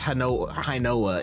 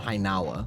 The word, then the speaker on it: Hinawa: Okay, fires a oh no, it is Hinoa. It's pronounced Hinoa in the anime, but is it spelled Hinawa, which if it hits transforms into Suzuri Raiden and deals additional damage.